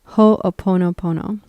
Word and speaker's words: Ho'oponopono: And how do you pronounce that, the term again? Ho'oponopono.